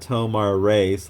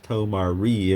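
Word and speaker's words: Tomar-Re: Then John Stewart got Tomar Ray / Tomar Ree, if you prefer to pronounce it that way.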